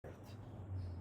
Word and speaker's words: verte: Je dois cette couleur vert or verte? Yeah, Verte. Verte, because it ends with the E. So I would pronounce the T.